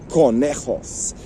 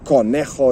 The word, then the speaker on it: conejo: And conejo is coming up today. Another word that begins with a C, C-O, and it's pronounced ca, well, co, to be precise, which is rabbit.